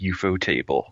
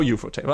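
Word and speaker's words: ufotable: if you read the cakana it is indeed eupo table there you go fantastic so eupo table I always great I always pronounce it correctly hooray yeah because I was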